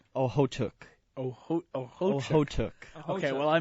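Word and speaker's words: Okhotyuk: Nikita Ohotuk.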